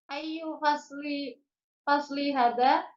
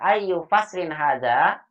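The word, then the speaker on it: أَيُّ فَصْلٍ هَذَا: Ayu fasli hada. Musim apa ini? Ayu faslin. Bacanya ayu faslin hada.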